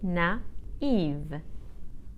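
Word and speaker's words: naïve: will say na if the feminine of that is spelled n a i v e with a trema on the I so I will say na Eve and finally my name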